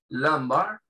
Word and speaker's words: lumbar: Y acá tenemos lumbar, esa U se pronuncia parecido a una A, lumbar, ¿sí?